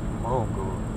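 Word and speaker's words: Mrągowo: Ну, О произносится почти как французский. Мронгова.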